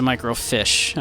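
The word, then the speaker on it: microfiche: Any idea where the microf fish is? Oh, May apparently did pronounce it microfish.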